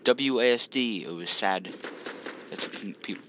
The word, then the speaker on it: WASD: It was sad. That's what people pronounce it. That's how I pronounce it, was sad. Was sad, I don't know.